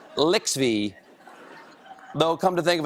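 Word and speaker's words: LXVII: Now, the reason we're calling it Lixby is because that's the night of Super Bowl 50, but it's my 87th show, and I believe that's how you pronounce the Roman numerals over there. Lixby.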